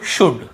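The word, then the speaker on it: should: डी के पहले यदि एल है तो हमें उसे नहीं पढ़ना है। कुल्ड वुड शुड नहीं पढ़ना है। केवल कु ड व ड शु ड कुड वुड शुड। यहां पे एल का रोल ही नहीं है।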